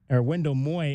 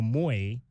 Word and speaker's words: Moy: we were referring to Wendell Moy as Wendell Mo, when in fact it's Wendell Moy.